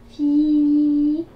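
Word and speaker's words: فيلٌ: Alors la lettre fin avec la kasra, ça fait i. Mais comme il y a la lettre ya derrière, ça va nous faire un i prolongé. Donc ça fait fi.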